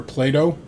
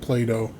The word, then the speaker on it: Plato: which is the Aspire Plato. Plato, I should say it like that instead of Play-Doh.